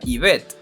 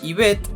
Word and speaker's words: Yvette: Curiosamente, Yvette significa la arquera. La pronunciación de su nombre recuerda a nombres tales como Eva o Eve en inglés, para ser más específicos.